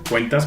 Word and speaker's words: Qentaz: estoy describe la empresa cuentas que nos escribe cómo se pronuncia es bien importante cuentas con cv y con z es q en este act y así se escribe cuentas y linkedin 'daniel aldana'